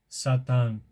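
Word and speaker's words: שָׂטָן: In the original Hebrew, the word is pronounced Satan.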